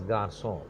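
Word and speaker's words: Garçon: air say axis a dingo air that is Garcon it means the pronunciation so otherwise it will be coca Q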